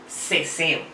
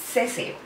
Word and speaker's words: seseo: sur de España, las letras C, Z y S tienen un sonido similar a la letra S. Este fenómeno lingüístico se conoce como ceseo. Es decir, la C, la Z y la S se pronuncian igual.